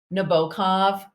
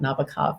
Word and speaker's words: Nabokov: piece of literature so I love Nabokov and that's how his name is pronounced not Nabokov Nabokov and Vladimir Nabokov and